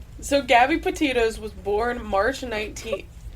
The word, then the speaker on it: Petito: Think of Titos, like the vodka. Yeah, yeah. So, Gabby Petito was born March 19th Gabby Petito.